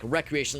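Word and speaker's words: Wreckreation: Well, spelled like recreation, like rec, like W-R-E-C-K.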